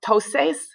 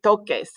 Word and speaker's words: toques: So we want the ER endings, toques, but if we do it like that and add ES without changing the C, it's pronounced toses, but we want it to be toques.